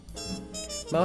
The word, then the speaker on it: Meaux: middle name is unusual it is spelled m-e-a-u-x and it's pronounced mo it is a nod